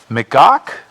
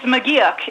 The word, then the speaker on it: McGeoch: to pronounce this correctly, McGock? Hello? Hi, good evening. I'm not sure I pronounced your name correctly. Is it McGock? It's McGeoch. If you say yuck, you've got it right.